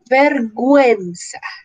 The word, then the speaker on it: vergüenza: En estos dos casos la U no tuviera diéresis, leeríamos pinguino, vergüenza, pero como tiene la diéresis, pingüino, pingüino, vergüenza.